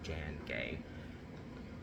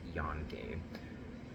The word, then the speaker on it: Jan Gay: Jan gay who was well actually it's prob it's more than likely pronounced Yan gay um because it references it's kind of the Swedish version of John but because it's a woman uh it's easy to pronounce it as Jan right so anyway so